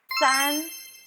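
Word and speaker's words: 三: Okay, next is san. San. When you pronounce san, it sounds like big smile. It sounds like English words san and with big smile.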